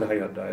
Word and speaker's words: Hyundai: Is that how, am I pronouncing it good? Yes. He said Hyundai.